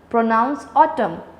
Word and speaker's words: autumn: autumn artem a silent autumn the last n is not pronounced so n is silent rain island has me